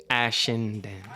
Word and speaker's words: Ashenden: I think I pronounced his name wrong. Ben Ashenden. Ashenden. There you go.